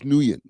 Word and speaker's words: Nguyen: I know Flakko like like completely botched up the pronunciation of his name but it's it's George Nguyen.